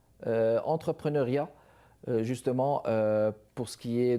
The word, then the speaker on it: entrepreneuriat: De retour avec vous, mesdames et messieurs, entrepreneuriat ou entrepreneuriat. Il faut bien prononcer là, entrepreneuriat, justement, pour ce qui est de valoriser les idées, de les lancer, de les vivre.